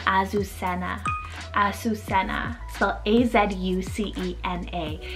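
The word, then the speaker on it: Azucena: here is the name azusena a susena so a-z-u-c-e-n-a it could be in english pronounced azusena with that stronger zed and this one is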